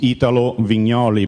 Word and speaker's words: Italo Vignoli: So my name uh pronounced correctly is Italo Vignoli but you are free to call me Italo as your English as all English people are doing it's easier for you.